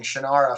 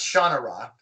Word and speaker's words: Shannara: brooks that was great finding out that i had been mispronouncing shannara for ever um it's genra but i still can't say it that way because it's been shinara since i was you know 12.